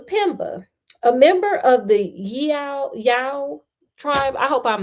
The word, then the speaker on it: Yao: The young man in this story was Pemba, a member of the Yao tribe.